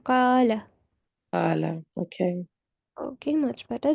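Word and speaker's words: قَالَ: Okay, do not prolong the fatha on lam. Only for 1 Okay. second we'll be doing qala.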